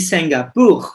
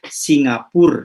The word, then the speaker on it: Singapour: Jadi Singapour ya, bukan Singapura ya.